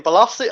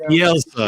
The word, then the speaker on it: Bielsa: Belossi? I keep forgetting how you say his name. Bielsa.